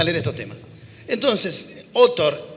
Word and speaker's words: Autor: Acemoglu, y hay un autor que curiosamente se apellida Otor y se escribe autor.